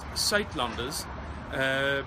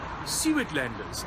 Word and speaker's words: Suidlanders: It's pronounced Suidlanders, but in English you would probably pronounce it something like Suidlanders, and this is how you spell it.